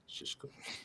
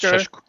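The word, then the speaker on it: Šeško: Shishku. That's how Owen says it. That's how Owen says it. That's how it's pronounced. Shishku.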